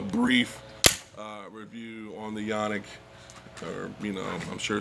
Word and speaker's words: Canik: uh review on the yannick or you know i'm sure some might be in the comments but like it's not pronounced yawning well look buddy i'm